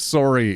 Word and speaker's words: sorry: If you didn't know any Canadians back there, you might not have realized how aggressively Canadian the pronunciation of sorry is because it rhymes with story.